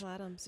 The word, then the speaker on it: Ansel Adams: Is that how you pronounce it? Ansel Adams? Ansel Adams.